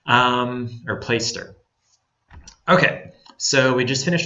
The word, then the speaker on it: Placester: place Esther place ster it's pronounced like play you're playing out in the yard and stir like you stir a drink place stir or play stir okay so we just